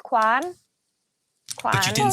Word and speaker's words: Kwan: I would say and with my accent I would say Quan because it's my accent. You're Quan. But with the Derry accent, it's Quan. But you didn't say Quan.